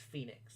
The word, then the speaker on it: Fenix: missed two Phoenix goals you keep making me call them Fenix it's Phoenix I know it's spelled Fenix but it's Phoenix um so yeah that's